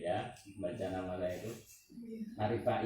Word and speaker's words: Arivaie: Arif Fair itu ejaan lama itu ya.